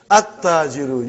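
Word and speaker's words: التاجر: What is the next one, brother? At-tajiru. You did not pronounce lam. Why you did not pronounce? Because it is sun letter.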